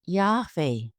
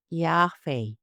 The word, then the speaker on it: Yahweh: There are various ways to render the pronunciation of YHWH, and for now, we will use Yahweh.